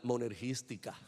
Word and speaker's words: monergística: En ese sentido, la salvación, la justificación es monérgica o para hacer un anglicismo brutal, monergística con acento en la i que tiene en el medio.